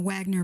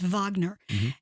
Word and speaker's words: Wagner: with them you may it's spelled with a W so you may be pronouncing in a Wagner but it's Vagner and this gentleman um